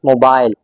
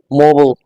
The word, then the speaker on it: mobile: In British English, this word is usually pronounced as mobile. But in American English, आप इसको बोलेंगे mobile, mobile. This word is pronounced as mobile in American English.